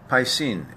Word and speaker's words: Piscine: Piscine is the correct pronunciation.